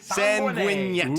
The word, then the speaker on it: Sanguinet: We got this one from Sean Sanguinit on YouTube. That's how you pronounce that, right? No. It could be. Sanguinet? He's Sanguinette. not French. Sanguinet. It's definitely Sanguinette.